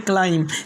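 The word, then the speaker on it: climb: Bomb, इसके बाद में थम, उसके बाद में क्लाइम।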